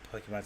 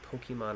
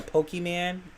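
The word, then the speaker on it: Pokémon: pokeman is first off if you still call it a pokeman you might be too old for watching this show bro my parents always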